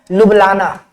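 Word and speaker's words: Ljubljana: Slovenia की राजधानी का नाम बहुत, जो स्पेलिंग है वो बहुत यूनिक टाइप का है, लेकिन इसका प्रोनाउंसिएशन क्या होता है? लुब्लाना।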